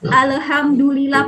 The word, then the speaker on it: alhamdulillah: maunya seperti ini Ale Alhamdulillah pada hak cipta ada huruf ya alhamdulillah gitu jadi bacanya harus jelas alhamdu lillah daalen gitu Nah itu